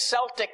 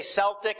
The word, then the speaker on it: Celtic: cell or all these celtic christians did you say celtic a celtic you can pronounce it either i've heard it pronounced either way so they these celts